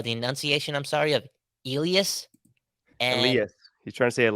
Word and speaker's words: Elias: I think Elias Pettersson, or maybe I'm butchering that last part, but it Elias. had a bit of a sh sound to it when you Elias. pronounce it in Swedish.